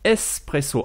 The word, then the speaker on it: espresso: s'écrit b ureau et un expresso se dit en italien espresso avec un s à la place du x et en faisant le